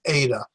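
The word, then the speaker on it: ήτα: get tested on pronunciation the ADA is looks like an N don't get it confused with the English end it's an ADA which sounds like a long a obey so it's an a sound then theta very familiar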